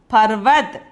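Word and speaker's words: पर्वत: this letter is irma so the word becomes parvat okay the pronunciation is the meaning is mountain okay this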